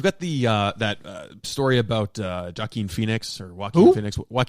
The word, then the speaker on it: Joaquin: It's Joaquin. Actually, you're pronouncing it wrong.